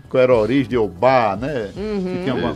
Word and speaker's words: Ô Bar: Eu errei aqui na colocação, na mudança de letra, porque você pronunciou, pensei que você estava pronunciando com um acento. Sim. Mas é o bar. O nome é Oba. Oba. É a ideia de ser Oba, né?